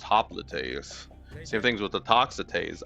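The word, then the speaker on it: hoplite: it says toxo, but you don't pronounce things in other languages with the same sounds you do with the same ways you do in English typically.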